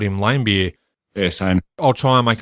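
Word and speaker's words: Laimbeer: his nickname was lamb apparently it's meant to be lamb beer I'm completely thrown because I think for all of time I've called him lamb beer yes I'll try and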